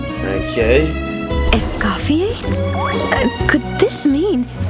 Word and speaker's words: Escoffier: Escapier. That's how you say her name. All right. Must be All right. Okay. Essafier.